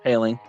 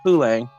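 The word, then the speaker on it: Poehling: call him in Pittsburgh it's paling in Montreal he was pulling and in Pittsburgh he's paling we always we always like to change pronunciation when we get here the pulang tips it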